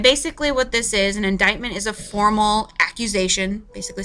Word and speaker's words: indictment: by grand jury and I know indictment doesn't look like at all how it is spelled but that's how it's pronounced indictment by grand jury and basically what this is an indictment is a formal accusation